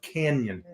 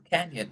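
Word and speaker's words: Cañon: but that first n has an Enya Spanish pronunciation of Canyon Canyon thank you very much oh go ahead no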